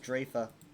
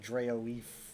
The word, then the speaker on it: Drafa: And yes, it's pronounced Drafa. I remember reading that word and being like, how do you pronounce this? And the first time it's pronounced, I believe, is in Earthen Root Enclave at the very end, where Laurel says Drafa. And I'm like, whoa, is that how it's said? I always read it as like Draoeef, which never sounded good to me.